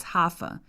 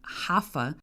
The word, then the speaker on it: Rafa: after almost 50 episodes I introduced myself as haa it's spelled ra a f a and the reason why I say it like this haa is because I'm Brazilian and in Portuguese the r in the beginning of a word sounds like a hard H as in house or horse if you're a soccer